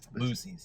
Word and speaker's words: Buc-ee's: So Boosie's. Those of... Is it Boosie's? Boosie's. Yeah, say it like that.